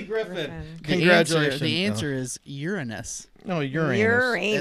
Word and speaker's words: Uranus: The answer is Uranus. No, Uranus. Uranus. It's not how it's pronounced.